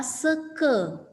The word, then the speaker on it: seka: Jadi tolong diingat ketika membaca dalam bahasa Bali, setiap kata yang diakhiri dengan huruf A itu dibaca E. Ya, seka itu ya dibaca seke.